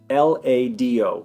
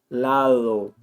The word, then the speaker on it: lado: So for beginners, the way I would recommend to pronounce this D between two vowels is like the TH in mother, father, they, this. This is the voiced TH in English. It's when you put your tongue out and you vibrate. I would start off that way. So L-A-D-O would be lado, lado.